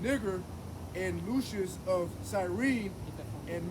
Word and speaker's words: Niger: It's still pronounced Niger, right? It's a Latin word, means black.